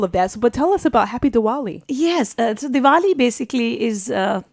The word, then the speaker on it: Diwali: Is that how I pronounce it? Happy Diwali. Happy Diwali. Yes, Diwali.